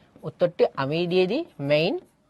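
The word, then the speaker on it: Mein: মেইন বা মাইন যেটা উচ্চারণ করা মাইন ক্যাম্প বা মাই স্ট্রাগল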